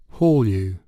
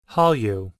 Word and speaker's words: Hallyu: Hallyu. Hallyu. 이게 HALL이 홀이니까 홀. 그래서 홀이라고 일단 발음을 하는 것 같아요.